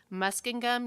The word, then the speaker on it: Muskingum: Dylan Caudill committed to I might mispronounce this but I believe it's Muskingum University that's in Ohio is that how you say it okay Dylan committed there